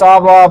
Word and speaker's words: Habla: I know it's Habla, but I don't know. People don't really. I don't know if people. Understand. H is silent in Spanish.